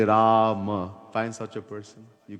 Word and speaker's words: Ram: He could not say Ram. Ra-ma. 2 syllables.